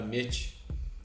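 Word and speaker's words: מת: Se for tirada, subtraída ou ocultada a primeira letra da palavra verdade em hebraico, sua pronúncia passa de Yemet para Met, e sua tradução ganha um outro sentido.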